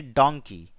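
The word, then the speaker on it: donkey: दोस्तों, यहां पर एस साइलेंट है, इसे आइलैंड पढ़ना है और इसे पढ़ेंगे डोंकी।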